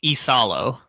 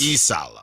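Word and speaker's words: Iisalo: Isalo, I believe. So there's two I's. Yes. Again, he's from Finland. I see. So I if the internet is correct, I believe it's Tuas Isalo.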